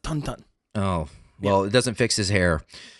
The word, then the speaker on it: Tintin: name is 101 uh French okay technically it is pronounced tonon oh well it doesn't